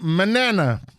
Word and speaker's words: Manana: is j Brook Logan Manana that's Manana not banana not Tanana none of that I